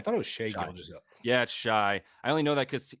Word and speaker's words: Shai: and he tweet TW he quote tweeted it himself with shy in quotation marks yeah man I've heard